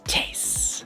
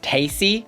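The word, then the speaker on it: Tayce: It's Tase. And I am so mad that her name is not pronounced Tacy. I want to say Tacy. You know, just like how you say Versace.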